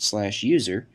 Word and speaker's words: usr: typically added by the system administrator, /usr, often pronounced /user, which contains software that ships with the Linux